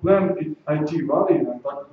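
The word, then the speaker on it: PlanIT Valley: Маздар — это такой проект уже арабским, но Plan IT Valley, так читается, это португальский проект.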